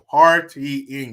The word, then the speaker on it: partying: Those guys were partying. You can't say they were partying. You got to break that word up into 3 syllables. Partying.